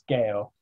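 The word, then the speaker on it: γῆ: also point out that this would not be pronounced j or g in greek it's gale it's a hard g sound um it's only in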